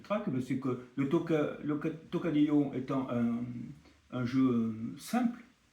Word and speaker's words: Tocadillo: dire grand-chose finalement euh mais phonétiquement euh c'est tocadio là vous avez écrit tokadio c'est la même